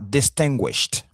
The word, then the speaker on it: distinguished: OK donc ici ça sera distinguished. Distinguished. E ici se prononce t. Alors pourquoi est-ce qu'on le prononce t ? Parce que nous avons avant le ediceless sound. Le son ch est un voiceless sound.